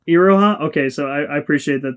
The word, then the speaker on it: Iroha: I should say I don't remember how you said her name, but you said it wrong. It's Iroha. Iroha?